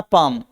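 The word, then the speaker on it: palm: देखो पाम माने हथेली एल देखो साइलेंट है यहां पे पाम में एल साइलेंट रहता है पालम नहीं बोलते से पाम बोल के चलेंगे तो देखो पाम है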